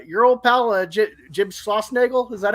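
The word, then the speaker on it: Schlossnagle: m and uh your old pal legit jim schlossnagel is that how you pronounce it yep so they did you dirty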